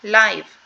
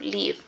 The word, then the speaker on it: live: of this word yes this is live not life because I've heard some people who confuses the pronunciation okay REM life instead of live okay life is the